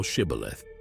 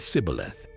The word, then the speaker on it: Shibboleth: If he said, Nay, then said they unto him, Say now Shibboleth. And he said Sibboleth, for he could not frame to pronounce it right.